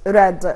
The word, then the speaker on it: read: قول I read a newspaper yesterday، هي اتكتبت نفس السبيلنج بتاعها نفس الحروف لكن اتنطقت ريد.